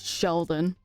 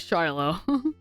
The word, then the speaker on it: Shiloh: Because of my dyslexia, I always thought pronouncing his name was Sheldon. No, I thought it was too until I read it. I was like, oh. I was like, oh yeah, it is Shiloh.